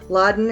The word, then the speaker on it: Ladan: I tell them it's like bin Laden but you get rid of the bin and you just keep the good and get you know and keep just awesome Laden.